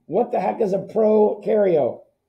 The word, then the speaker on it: prokaryote: nucleus what is a pro cario come on give me something keegan reagan cameron francis anybody in that group pro rhymes with no no because they have